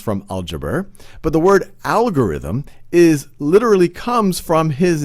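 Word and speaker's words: Algoritmi: algebra but the word algorithm is literally comes from his name the name is me in latin they pronounce as algorithmi so other significant contributors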